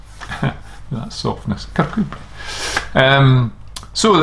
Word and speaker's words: Kirkcudbright: And if you read it, a lot of people call it Kirkcudbright, but it's actually pronounced Kirkcudbright. That softness, Kirkcudbright.